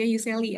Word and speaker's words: Yuseli: Benar kan Kak cara baca Yuseli ya Kak? Iya, tenang kok namanya masih masih konsonan bahasa Indonesia kok bukan bahasa bahasa Prancis kok.